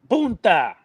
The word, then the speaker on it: Punta Cana: No, you gotta sound the N. Punta. It's like poontang, puta.